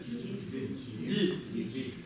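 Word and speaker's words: འདི: Ди. В каком тоне? В каком? Высоком. Почему? Потому что А, высокий тон, это будет читаться как Ди.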